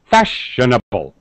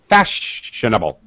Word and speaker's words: fashionable: spell it correctly fashion it's four syllables right but but only this part is stressed fashionable all these shwah sound schw sound shwah sound very fast this sound is stretched fashionable right that's when we're